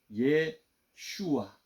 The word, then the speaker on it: 예호슈아: 더 이상하게 돼 버리는데 원래 이게 예슈아 이렇게 발음하는 히브리 이름 예슈아 이걸 이제 줄여던 입장인데 옛날에 분리된 원래 이름은 예호슈아 들어본 거 같지 않습니까? 여호수아. 예. 그 이름을 번역을 여호수아라 보는데 원래 이름은 예호슈아입니다.